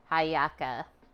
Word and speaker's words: hallaca: things things devolved to haaka when if you say it in Spanish the H is silent cool another version presumes